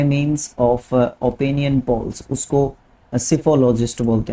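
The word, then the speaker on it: psephologist: देखो जब भी पी के बाद एस आएगा, आपका पी जो है क्या है, साइलेंट रहता है, ठीक है। एस से आपका स्पेलिंग प्रोनाउंसिएशन शुरू होता है, स्पेलिंग पी से शुरू होएगा, जो प्रोनाउंसिएशन है वो एस से शुरू होएगा।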